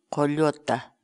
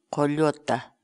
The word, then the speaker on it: qulluta: série de vídeos onde nós ensinamos você a pronunciar determinadas palavras em Quechua. Portanto, a nossa palavra do dia para hoje é... Colhota. Colhota. Colhota.